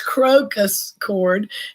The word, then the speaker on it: crocus cord: It's crocus cord, and it's crocus, like the flower, crocus cord, or Love crocus cloth.